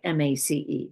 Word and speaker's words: Myss: Her last name is spelled M-Y-S-S, but it's pronounced like M-A-C-E, Mace.